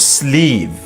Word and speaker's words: sleeve: The word sleeve has an excessive number of E's. We are saying it right now. Sleeve or sleeve would work fine, but English does not like to leave V's on the ends of words. It prompts them up with E's, as though they'd fall over.